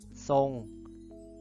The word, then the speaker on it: ทรง: ประเสริฐ อ่าน ว่า ประเสริฐ หาก พญา ต้น เป็น ตัว ทหาร ควบ รวม กับ คลอ เรือ เวลา อ่าน จะ อ่าน ออก เสียง เป็น ซอโซ่ เช่น ทรง อ่าน ว่า ทรง เดี๋ยว เรา ไป ดู